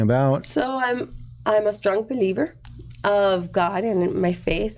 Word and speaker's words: BEELIVER: And I said, well, it sounds like believer. So it's spelled BEELIVER.